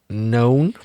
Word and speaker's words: known: And you would find that hard to guess if you didn't know, because known, sorry for saying the word know a lot, begins with a silent K.